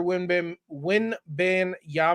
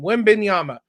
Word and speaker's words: Wembanyama: The Spurs are going to get Victor Wembanyama. That's not how you say it. I butchered that name. Wembanyama.